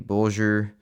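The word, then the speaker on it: Bolger: For example, Bulgur has G as in bulge, so it would actually be bulgur, and Matham rhymes with fathom.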